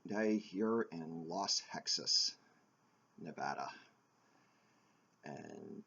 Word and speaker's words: Nevada: it when you refer to their state as Nevada its Nevada and it reminds me of when I was